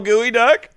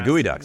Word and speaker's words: geoduck: Can you spell gooey duck? Nope. I only recently learned what that is. You wouldn't even pronounce it gooey duck if you knew how it was spelled.